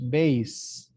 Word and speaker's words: bass: word right here is as a musical instrument is pronounced bass he plays the bass